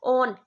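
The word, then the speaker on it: -one: so Kone suffix and what is the suffix on o n e not one it's not one it's on right it's English yeah it's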